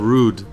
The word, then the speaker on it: Rhude: It's a brand called Rude. How do you spell it? It's like Rude, but with the H. So RHUDE.